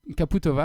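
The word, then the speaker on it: Čaputová: voudrais caputo bah oui je voulais prononcer la française voilà mais en fait c'est à dire que sur le c sur le c2 qui est la première lettre du nom de famille caputo va il ya un petit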